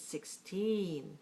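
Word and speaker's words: sixteen: 16 or 16 it's 16 right stress the second syllable and put a sharp t on the teen 16 all right so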